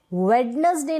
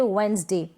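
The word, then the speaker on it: Wednesday: थी साइलेंट रहता है तो यहां पर साइलेंट है वेडनेसडे नहीं बोलेंगे हम बोलेंगे वेनसडे व्हेन से टॉक्सिंस Play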